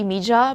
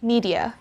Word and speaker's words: media: that there is the letter d before the letter y in filipino we have that rule so we can produce the j sound if d and y are together like they are in one syllable so we can say mija but in english it's media one more time media since most of us